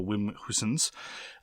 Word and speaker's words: Wim Huysens: I apologize in the past for having tried to pronounce it in a German way. My understanding is that it is to be pronounced in a Dutch way, so Wim Huysens.